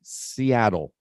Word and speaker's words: Seattle: one little thing pronunciation people from seattle say seattle yeah seattle yeah seattle so yeah yeah good very good verto not 14 just four looks like 14.